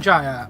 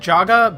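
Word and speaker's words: Yongen-Jaya: And this is, Yongen Jaya. I keep saying Jaga because I keep being an idiot and thinking that Y is a J. It's not, it's Jaya.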